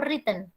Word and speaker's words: written: Oke, misalnya ini bacanya written atau written? Written. Lo, W kan Miss sudah bilang nggak dibaca. Written apa written? Written. Written. W-nya tuh hilang, jadinya cuma written.